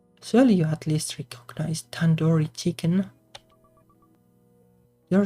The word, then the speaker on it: tandoori: five year years old you could have just sit like the two in due date Tandoori Tandoori but now I